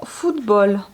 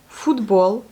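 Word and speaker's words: футбол: Ensuite, nous avons le mot football. Bon, on va dire que c'est le mot étranger quand même. Donc, ça s'écrit pareil, comme ça se lit pareil que ça se dit. Football. Foot, F-U-T, B-O-L. Football.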